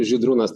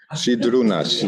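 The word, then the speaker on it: Žydrūnas: On my left side, we have Zydrunas. I hope I pronounce it correctly. More or less, yeah. It's actually Zydrunas. Zydrunas, yes.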